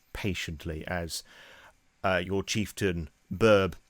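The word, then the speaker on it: Böb: as uh your Chieftain BB which is spelled Bob but it's got the two little dots over it it's pronounced BB uh basically is awaiting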